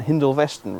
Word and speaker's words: Hindolveston: Now, as a Norfolk boy, I believe their correct pronunciations are Fulmodeston and Hindolveston respectively, with or without an "E" at various points throughout their existence.